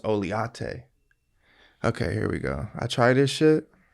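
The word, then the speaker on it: Oleato: He goes, no, it's pronounced Oliate.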